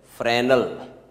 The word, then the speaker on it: Fresnel: You must pronounce this way, Fresnel. S is silent.